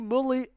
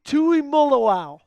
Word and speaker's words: Tuimoloau: draft, the Packers are going to select JT Mully. Oh, wow. I butchered that cuz I saw it coming. JT Tui Mullaw.